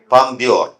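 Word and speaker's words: Palme d'Or: പാം ഡി ഓർ. അതിനെങ്ങനെ വായിക്കും? പാംദ്യോർ.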